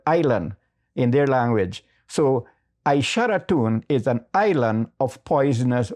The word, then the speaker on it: Aishalton: And then we have Aisharatun in the Wapishan language. That has been distorted to Aishalton. But actually the word is Aisharatun.